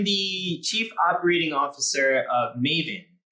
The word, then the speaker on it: Mayvenn: So I'm the Chief Operating Officer of Maven. That's spelled Mayvenn.